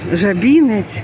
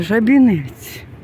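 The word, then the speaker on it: Żabiniec: То треба говорити не жабінець, так як я раніше говорила, а жабінець. Так буде правильно.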